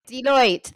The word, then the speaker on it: Deloitte: So I just want to share some research, and I can never really know how you pronounce this company. Deloitte. Deloitte.